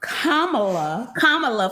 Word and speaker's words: Kamala: Kamala, for those who don't know how to say it. Kind of reminds me of Karma.